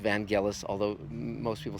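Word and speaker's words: Vangelis: and it is from what I hear it's pronounced vanelis although most people say evangelous including myself and uh but again it just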